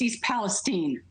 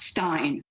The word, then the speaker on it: East Palestine: It's East Palestine, not Stein.